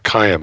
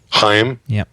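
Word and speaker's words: Chaim: one rich sure uh kayam is that how i pronounce that heim c-h-a-i-m heim rights can't just fire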